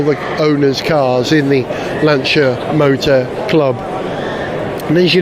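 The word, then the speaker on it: Lancia: car show four magnificent lanchers and it is pronounced lancha don't let anyone tell you it's lania I know that because Paulo pinina himself said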